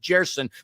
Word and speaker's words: Gerson: In Portuguese, Gerson's pronounced Jerson, but when you said Gerson, I thought of Gellson's.